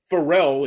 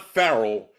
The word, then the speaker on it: Farel: It is Farel. It's not Farrell. Farrell usually has either two R's or two L's, or pardon me, sometimes two L's, but it has multiple different spellings. And Farel is actually a derivative